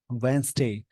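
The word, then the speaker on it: Wednesday: नहीं बोलेंगे handsome sandwich वेनसडे ऐसे कुछ वर्ड है जहां पे डी को साइलेंट करके बोलते हैं यहां लाइन है इंडिया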